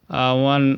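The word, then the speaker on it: one: इफ the first letter is ओ but sound W, जैसे वन eyed, वन, ये before Wavell, देखो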